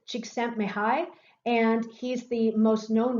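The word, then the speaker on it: Csikszentmihalyi: you see here that's difficult to pronounce this is cheek sent me high and he's the most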